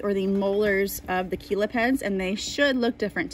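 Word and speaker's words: chelipeds: here they are called Keela pens they're spelled like cello pen but they're Aquila peds these are obviously for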